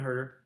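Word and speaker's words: Huerter: Yeah, so we got Tyrese Halliburton, Tyler Hero, Buddy Hield, Kevin Hoyt, however you say his name. Herter.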